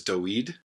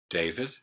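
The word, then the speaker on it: דוד: So we pronounce it Abraham. The next one is Aharon. Aharon, Aaron. The next one is Doed, David.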